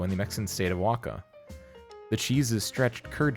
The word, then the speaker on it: Oaxaca: This Mexican cheese belongs to the pasta filata family and was created long ago in the Mexican state of Oaxaca.